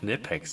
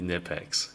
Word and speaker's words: Knipex: They're called Knipex. You didn't know they're called Knipex. That's how it's pronounced. That's how the web their own company calls it that. It's definitely Nipex.